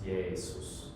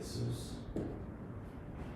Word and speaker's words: Jesus: Actually, I think it's Jesus with a long E there. If you actually did it in like maybe more like classical Latin forms, it would actually be like Jesus with an I like that.